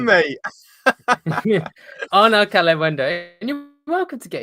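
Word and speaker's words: Arnaud Kalimuendo: I appreciate you saying this guy because you're too afraid to pronounce his name. It's Arnaud Calem-Wendo, mate. Arnaud Calem-Wendo, and you're welcome to get his FB ref up.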